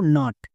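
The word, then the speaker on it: nut: reading ঠিক হবে যেমন আরেকটি ওয়ার্ড দেখো নাট একে কিন্তু ভুল করেও নুড বলা চলবে না কেন কারণ দেখো এটা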